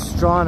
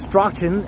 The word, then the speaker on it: Strachan: Here's Strawn Avenue, although it looks like it's pronounced Strachan Avenue, but that's how you tell who's a Torontonian and who's not.